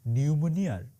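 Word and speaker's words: pneumonia: শেখ হাসিনার দশা এখন নিউমোনিয়ার ইংরেজি বানানটা আছে না নিউমোনিয়ার ওইটার পি এর মতন মানে থাইকাও নাই আর কি আমি আপনাদের একদম দায়িত্ব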